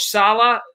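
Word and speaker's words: Saleh: leap second of all when the new coach salah is that how you say his name of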